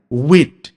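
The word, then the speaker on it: wind: ঠিক তেমনি উইন্ড, উইন্ড মানে আমরা সাধারণত জানি বাতাস। কিন্তু এই উইন্ডকে যদি কেউ ওয়াইন্ড উচ্চারণ করে তখন তার অর্থ হয়ে যাবে ঘোরানো, two rotate, two twist, to turn.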